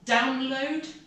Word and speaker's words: download: is my laptop and download upload again the emphasis is on down download upload data now